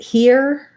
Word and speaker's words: here: um i can rewrite here this e-r-e can be confusing in terms of spelling most people are familiar with the word here it's the same as this word here here or here and